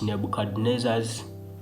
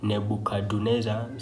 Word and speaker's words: Nebuchadnezzar: king some people some some people pronounce him as nebuchaduneza some pronounce Nebuchadnezzar though some don't don't pronounce D I mean d they don't pronounce it okay whichever way